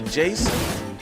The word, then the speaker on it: DJason: The Jason or Jason, the D is silent.